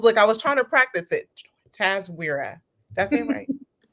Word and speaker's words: TASWIRA: TASWIRA. I was trying to practice it. TASWIRA.